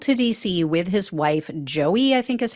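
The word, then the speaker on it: Joei: William gallman traveled to D.C with his wife Joey I think is how you say her name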